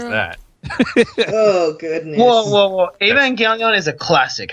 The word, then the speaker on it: Evangelion: kids- I have video of me mispronouncing Evangelion for like 3 seasons until I was corrected. Evangelon.